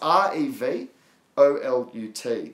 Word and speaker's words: Revolut: It's Revolut. That's Romeo, Echo, Vixen, Oscar, Lima, Uniform, Tango.